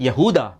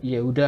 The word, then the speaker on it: Yahuda: Yahuda. Bukan Yehuda ya. Yehuda bahasa Arab, bahasa ee Ibraninya Yehuda. Kalau Yahuda bahasa Arabnya kalau Yudas bahasa ee Indonesianya enggak usah jauh-jauh.